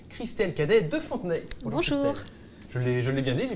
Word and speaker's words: Christelle: Christelle. Je l'ai bien dit, j'ai bien prononcé.